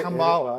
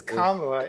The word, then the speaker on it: Kamala: she's first of all it's not Kamala it's kamla and she's not yet